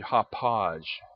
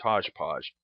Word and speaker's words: Hauppauge: I could get and I pronounced it incorrectly, it's actually Hauppauge. I thought it was Hodgepodge. I guess I used to call it Hodgepodge.